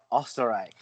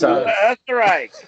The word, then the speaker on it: Österreich: Did you say Österreich or Österreich? Österreich. Österreich. Österreich. Asterix? Österreich. That's an umlaut.